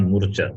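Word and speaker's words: मूर्छा: You can't pronounce Murcha. that. Murcha. Murcha. Murcha. It's not murcha. Murcha. Because long vowel a is there.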